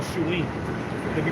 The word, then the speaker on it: Samhain: And that's what you call Shuin. It can be pronounced like Samhain, Yes, sir.